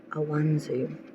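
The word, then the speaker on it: Ansuz: The first ruin that you got for October is pronounced Awanzu, meaning divine or God.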